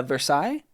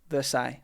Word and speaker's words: Versailles: Oh, the pronunciation the second one. Ah, uh, Versailles. Yeah, Versailles.